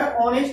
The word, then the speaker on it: honest: जबकि अगर ऑनेस्ट लिखते हैं HONEST, यहां भले ही एच है, उच्चारण ऑनेस्ट होता है, जो प्रोनाउंसिएशन होता है ऑनेस्ट होता है।